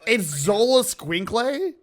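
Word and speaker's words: Xoloitzcuintle: It's Zola Squinkle? Roughly. That rules. The most, gringo possible way to pronounce That rules.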